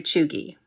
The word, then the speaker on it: cheugy: And in case you're wondering, that's spelled C-H-E-U-G-Y.